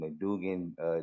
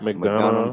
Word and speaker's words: McDonough: It's gonna be at 918 Dally Mill Road and McDougan, Georgia. I hope I ain't. Is it McDonough? McDonough. Did I butchered the name?